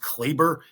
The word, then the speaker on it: Kleber: And so, a move like this that gives Dallas more versatility, makes them deeper, no offense to Maxi Kleber, but at the end of the day, give